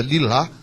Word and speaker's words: Lilah: pronunciar o mais correto o h no final ele vem porque ele tem a pronúncia lilá né Então vem um